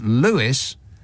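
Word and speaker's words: Lewes: and James says the town of L is pronounced Lewis not l L yeah now I was talking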